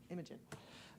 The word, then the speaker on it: Imogen: Imogen.